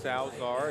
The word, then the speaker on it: Salazar: So, the Oceanside Bombers led by their quarterback Mark Salazar been mispronouncing his name throughout this first quarter, so I apologize for that, but it's Salazar and Salazar has been